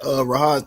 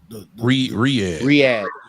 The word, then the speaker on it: Riyadh: Back to that Rahad thing. Ain't that how you say it, Rahad? Who? Riyadh.